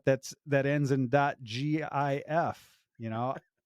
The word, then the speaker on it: GIF: that ends in dot GIF you know I say it's a gif you might say it's a gif no yeah it's a hard G God damn it I